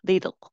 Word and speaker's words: little: 어, 이거 어떻게 읽으시는지 조금 영국스럽게 읽으면은요, T 발음을 그대로 넣으시면 돼요. A little, little 하게 되면 굉장히 영국스럽습니다. Britain English가 되고요. 이제 American English, 미국 사람들은 이 T 발음을 잘 하지 않죠, 요즘에. 근데 T가 단어에 따라서는 R처럼 들릴 때도 있고요. 어떨 때는 D 사운드를 낼 때인데 여기는 D 사운드를 내면 됩니다.